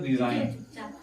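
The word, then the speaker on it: resign: प लिखा हुआ है रिजाइन तो रिजाइन में ए अगर देखा जाए तो जी साइलेंट है क्योंकि ए के पहले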